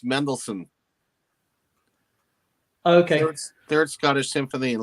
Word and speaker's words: Mendelssohn: that last one wendell hurst i i can pronounce his name though it's mendelssohn okay third scottish symphony and lip-sync gowandhouse go